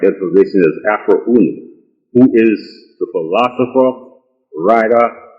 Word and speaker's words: Afroo Oonoo: And for the benefit of the reading public, the name Afroo Oonoo is pronounced Afroo Oonoo.